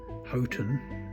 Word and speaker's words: Houghton: The name of the village is actually Houghton, not what I was saying.